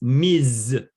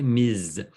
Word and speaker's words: Ms: And here it's Ms. Miss. Yeah. Yeah, very good. It's pronounced like a Z. Okay, Ms.